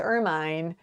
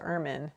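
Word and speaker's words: ermine: before it's not pronounced irmine even though that's how it's spelled it's pronounced ermin so it rhymes with vermin i guess so there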